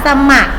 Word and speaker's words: สมัคร: สมัคร งาน หรือ อาสา สมัคร นะ คะ เวลา เขียน คำ อ่าน สมัคร สมัคร 2 พยางค์ พยางค์ หลัง ออก เสียง เหมือน มี หอน นี้